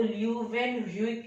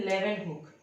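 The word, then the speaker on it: Leeuwenhoek: थे एंटोनी वैन लेवेनहुक या आपको ल्यूवेन ह्यूक ऐसे कुछ लग रहा होगा, लेकिन इसका प्रोनाउंसिएशन है लेवेनहुक।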